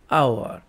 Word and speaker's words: hour: कि आ गोटे कथा many words begin with a silent h so they also begin with a vowel sound and therefore taken an जेमती कि silent h hour eighty hour लगे an hour हबो कहीं तार pronunciation